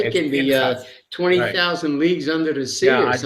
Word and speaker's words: Pinchas: We can't pronounce his name as Phineas. It's Pinchas. You Pinchas. Pinchas. can't have a Pinchas. Hebrew word. A Hebrew word cannot begin with an F sound.